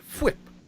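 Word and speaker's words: Fwip: we have madame garcia whip garcia whip whip i gotta say it right like cool whip but flip uh and and of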